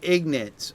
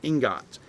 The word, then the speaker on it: ingots: Now I got PAL, the end game ignits, or the PAL metal ingots, I guess is the better pronunciation of that, ingots.